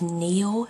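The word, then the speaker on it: Niall: And um because I listened to the audio um the person on Wicked Lovely called him Neil. So I was glad because I wouldn't have pronounced it like that.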